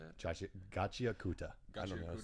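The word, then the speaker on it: Gachiakuta: And Gachi Akatsu is how you say it? Gachi Akuta.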